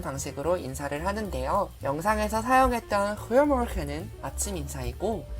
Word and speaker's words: Goedemorgen: 우리나라의 히읗 발음을 목으로 긁어서 내는 소리와 비슷하죠.